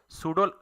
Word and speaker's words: pseudo: सूडो, लफ्ज़ सूडो PSEUDO, ये spellings है।